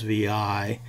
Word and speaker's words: vi: VI is pronounced VI it's not the vi editor and you might have to think about this for a second but it's not the six editor it is VI and